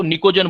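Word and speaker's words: pnictogen: अगर हमारे पास 15 number group है, 15 नंबर ग्रुप को निकोजन बोलते हैं, पी साइलेंट रहता है बेटा, निकोजन।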